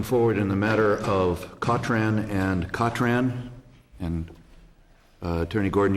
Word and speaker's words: Cotran: My client's name is pronounced Cotran, thank you.